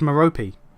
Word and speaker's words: Merope: Merope is an ancient Greek name, apparently. Oh, and apparently, the E at the end is pronounced. Oh, so it's Merope. Or Merope.